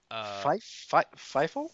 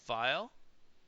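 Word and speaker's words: Pfeil: It's P-F-E-I-L. Fifo? File. File, maybe. File. Maybe if you put a P and an H together, that's F.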